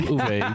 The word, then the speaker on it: Uwe: Uwe. The W is a V, yeah.